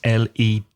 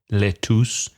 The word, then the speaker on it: lettuce: Another difficult word to pronounce, lettuce, because it's L-E-T-T-U-C-E. So the pronunciation is not lettuce, it's lettuce.